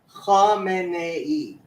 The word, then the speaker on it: Khamenei: Khamenei. It's even got an extra syllable.